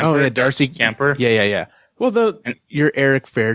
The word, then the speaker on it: Kuemper: Kuemper? Oh yeah, Darcy Kuemper.